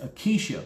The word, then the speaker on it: acacia: It's acacia wood. That's how it's pronounced.